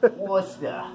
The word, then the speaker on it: Worcester: Worcester. Did I say that right? Yeah, that's how you pronounce it.